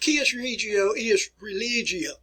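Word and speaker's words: cuius regio, eius religio: You can't read my letter right here, but that is an E, but it's pronounced Cius Regio Ius Religio.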